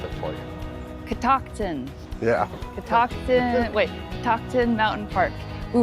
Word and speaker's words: Catoctin: So we asked the park ranger how to say it, and Amber is going to pronounce it for you. Catoctin.